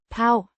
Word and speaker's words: på: Pronounced Pau. similar to the English word.